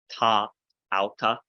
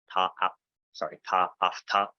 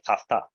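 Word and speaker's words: τὰ αὐτά: Rather, so the example here, ta auta, ta afta. My Erasmian pronunciation is slipping in, sorry. Ta afta. Rather than put a pause there, do ta, take an afta. It's way quicker to just say tafta.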